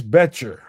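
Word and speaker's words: Boettcher: This is linebacker Bryce Betcher. The O is silent.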